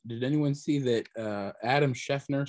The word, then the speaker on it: Schefter: Right before you do prop bets, did anyone see that Adam Schefter said 3 hours ago that CJ, what did I say? Schefter? Sorry. No, it is Schefter. It is Schefter.